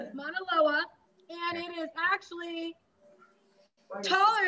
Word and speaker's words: Mauna Loa: It's Mauna Koa. I don't know if I pronounced that correct. Mauna Loa. That's very good. Mauna Loa.